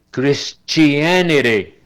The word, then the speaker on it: Christianity: La T en inglés, increíble, tiene como 4 pronunciaciones. Una de ellas es el grupo CH del español. Cuando yo digo chicha o chucho, aquí esa T, la primera, se pronuncia como CH en español. Christianity. Y la última, pues ya sabemos que se pronuncia como era española.